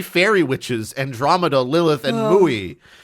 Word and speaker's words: Mui: witches, Andromeda, Lilith, and Mui. It's a big deal that M-U-I is, yes, M-U-I is how you spell that.